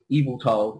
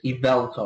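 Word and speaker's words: Yveltal: like it's not just evil to it's Evel to like because that Vel is kind of meant to be the main particle its name yeah but surprisingly it sounds like the word evil yeah and also this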